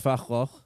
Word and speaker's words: Van Gogh: Did you know that Van Gogh is apparently pronounced Fachloch? Terrible. Yeah, didn't know. A terrible real pronunciation. Yeah. Van Gogh's so much better.